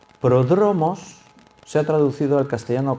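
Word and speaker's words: πρόδρομος: el orden de melquisedec esa palabra precursor es una palabra griega se pronuncia pródromos pródromos se ha traducido al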